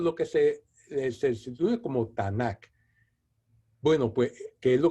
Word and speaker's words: Tanaj: que se ve como tanak bueno pues qué es lo que nosotros conocemos como antiguo testamento los judíos llaman el tanaj así como cómodo estoy pronunciando pues entonces dice la leyenda